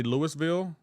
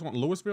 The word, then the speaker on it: Louisville: Say Louisville, please. Brother Lewis Lewisville. Am I not saying it right?